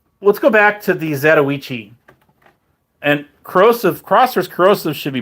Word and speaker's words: Zatoichi: But okay, so let's go back to the Zatoichi. And Crossers Corrosive should be proud of me for pronouncing that properly.